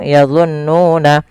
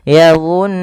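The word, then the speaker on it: يظنون: Cara membacanya yaitu menahan suara nunnya sepanjang 2 harokat. Maka yadhunnuna jangan langsung yadhunnuna tapi ditahan dulu nunnya yadhunnuna.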